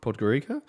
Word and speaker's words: Podgorica: from uh podgor i'm going to bollocks this pronunciation up gurika podgorica um i'm not as high on anc alive